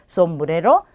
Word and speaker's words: sombrero: 그래서 전부 다 쌍시옷으로 발음이 되고요. 쓰로 발음되기도 하죠. 그래서 여러분들은 편한 발음으로 그대로 해주시면 돼요. sombrero, sábado, siempre 이렇게요.